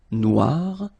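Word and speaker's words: noire: So it's quite funny because you will have to add this uh at the end of noir for the feminine form but then you don't pronounce it. Okay. So phonetically it is exactly the same noir.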